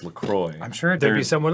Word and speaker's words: LaCroix: On their website, they say it's pronounced LaCroix.